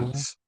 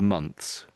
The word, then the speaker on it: months: So the Brits, almost all Brits, sort of try to say the TH, and it's sort of months, months.